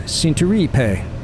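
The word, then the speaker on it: Centuripe: It's the town of Cinturipe, which is probably pronounced Cinturipe. That's how you say everything in Italian.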